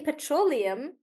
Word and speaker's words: petroleum: like that petroleum so in petroleum we do pet row limb like that and then the stress is on row and we say petroleum like that yeah petroleum